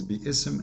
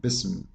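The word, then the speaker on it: بسم: If you want to say the word correctly, it is bi-ism, not bism. Bism is very false Arabic.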